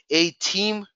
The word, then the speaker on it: Atiim: you can literally just go to our website a team that's how it's pronounced a team like Nintendo Wii with two